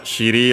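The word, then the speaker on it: しり: I've mentioned it before, I don't remember if in this very series it's the term for well, shiri on its own, accent on the last mora, means buttocks, behind, bottom, and extended means from that.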